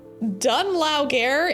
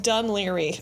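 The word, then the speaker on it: Dún Laoghaire: Dunlauger is pronounced Dunleary.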